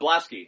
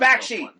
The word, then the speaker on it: Bakshi: Blasky. Ralph Blasky. That's the road. Bakshi. Ralph Bakshi. Yeah. I can't pronounce it.